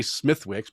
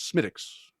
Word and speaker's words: Smithwick's: Well, I was trying to remember the proper way of pronouncing it because I always say Smithwick's, but it's not. It's Smithwick's Irish.